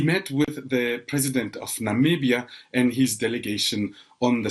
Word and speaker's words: Namibia: you remember Namibia is the country Donald Trump could not pronounce back in 2017 when he met with African leaders referring to Namibia as nambia quite several times that was followed by